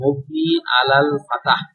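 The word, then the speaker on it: مبني على الفتح: থাকবে মবনি আলাল ফাতাহ শব্দটার উচ্চারণ হবে মবনি আলাল ফাতাহ মবনি আলাল ফাতাহ ফাতার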